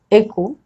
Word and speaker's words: echo: Rule number 3, H is often not pronounced when it comes after C, G or R. Like in these examples, choir, chorus, echo, ghastly, aghast, ghoul, or rhinoceros, rhyme, rhythm.